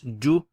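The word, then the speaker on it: جُ: How would you pronounce this? You'd say ju.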